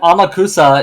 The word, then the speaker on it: Amakusa: japanese no that's not i'm pretty sure that's that amakusa is how you say in japanese well here we can